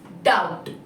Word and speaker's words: doubt: Here, letter B is silent. So when we read, we don't have to read the phonic sound of B. That's why its pronunciation is doubt.